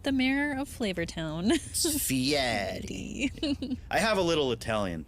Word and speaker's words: Fieri: He gets pissed off if you don't say it right. I heard that, and he only really started trying to force people to say it the Italian way, like halfway through his career.